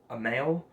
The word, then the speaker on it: Amail: I think the guy's name, he goes by Amail, so it's spelled capital A and then M-A-I-L, so A and then mail, like mail you get in the mailbox slot, so mail.